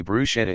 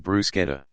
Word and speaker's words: bruschetta: 100 000 Euros 108 705 dollars don't say bruschetta instead of bruschetta under the proposed law the culture Ministry would